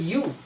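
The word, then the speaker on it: ewe: For example, E-W-E, it is pronounced as U.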